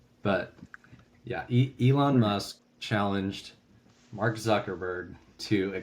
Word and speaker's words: Musk: I think his name's last name rhymes with Husk. But yeah, Elon Musk challenged Mark Zuckerberg to a cage match, which we're going to see if it happens or not.